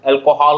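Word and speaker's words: alcohol: इसका correct pronunciation अल्कोहल होता है। क्या बुझिए आप पढ़ ले ला से। अच्छा, अल्कोहल, हाँ, एल ए नहीं होता है, अल्कोहल, हॉल जो सिनेमा हॉल होता है ना वो हॉल, अल्कोहल, अल्कोहल इस तरह से पढ़ोगे, करेक्ट प्रोनाउंसिएशन यही होता है।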